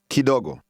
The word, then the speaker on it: Kidogo: Kidogo. Dogo. Go. Do. Dogo. Ki. Kidogo. Kidogo.